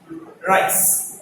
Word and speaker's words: rice: It is, you have to twist your tongue and then in the middle of the palate, you have to lift your tongue up. Then you will be able to pronounce this one.